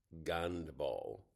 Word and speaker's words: гандбол: know why but there's some letters are different they do have kind of an h sound Ha. So when they say my name, it's usually. Uh but for some reason, uh most H's get translated as G.